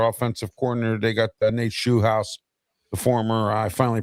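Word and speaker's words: Scheelhaase: They got Nate Shu House, the former I finally pronounced his name right, the former game coordinator for the Rams and possible Steeler head coaching candidate.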